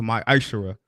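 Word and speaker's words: ma'aser: Means tenth in the Hebrew, and it's pronounced my Aishara.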